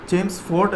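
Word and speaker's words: Chelmsford: नाम भी था मॉन्टेग्यू चेम्स एल, ये जो है ये साइलेंट है, चेम्सफोर्ड रिफॉर्म, ठीक है, चेम्सफोर्ड रिफॉर्म, ठीक है।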